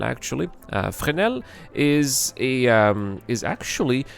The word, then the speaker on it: Fresnel: Uh the S is silent, by the way. We don't say a fnel. Uh it's frenel actually. Uh frenel is a um is